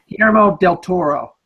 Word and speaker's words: Guillermo del Toro: Guillermo del Toro.